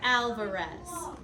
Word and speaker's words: Alvarez: alz okay Mrs Alvarez if we break this down into its syllables Al Al V with a making that schah sound re Mrs Alvarez you'll see this name a lot so I really want you to be thinking about how you say it correctly there's another word in